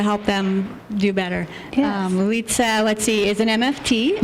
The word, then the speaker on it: Litsa: Yes, Litsa.